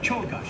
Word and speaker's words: Czolgosz: an orderly procession, that the president encountered Leon Czolgosz, a reputed anarchist. That's how you While one of pronounce it. Mr. McKinley's guards was distracted, Czolgosz had arrived at the president, who extended his hand in greeting. Czolgosz.